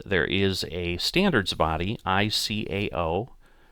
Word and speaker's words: ICAO: And there is a standards body, ICAO, or ICAO is usually a way it's pronounced, that have set these up.